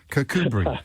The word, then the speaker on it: Kirkcudbright: I didn't want to say, would you put in brackets how I pronounce that? Kakubri.